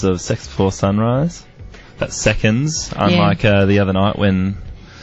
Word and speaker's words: Seconds: That's seconds, unlike the other night when... Someone thought it was Sex Before Sunrise.